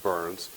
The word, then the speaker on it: Byrns: Well, and then, of course, as you said, my name is Byrns, and it's very interesting that my last name is pronounced Burns, because you're going to